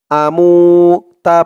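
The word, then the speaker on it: أَمُوتُ: হামজা জবর আ, মিম ওয়াও পেশ মু, আমু। মু একালিফ টান, পেশের পরে ওয়াও সাকিন, আমু। তা পেশ তু, আমুতু।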